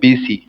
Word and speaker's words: பூசி: அவங்க அப்பா பேரு என்ன பூச்சி எண்ணிடாதீங்க அதுக்குதான் உங்கள சொல்ல வச்சேன் அவங்க அப்பா பேரு என்ன அத்த பூசின்னு படிக்கக்கூடாது பூசின்னு படிக்கணும் எப்படி தமிழ்ல இது உச்சரிப்பு தெரியாதது